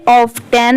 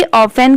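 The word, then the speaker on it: often: अब आप इसे ऑफ 10 मत पढ़िएगा। जैसे देखिए ओ एफ ऑफ होता है। टी ई एन 10 तो नहीं ये रॉन्ग है। यहां पर ये जो टी लेटर है ये साइलेंट है। तो आपको पढ़ना क्या है? ओ एफ ई N. Okay. पढ़ते टाइम यह प्रोनाउंसिएशन आनी चाहिए ऑफेन की।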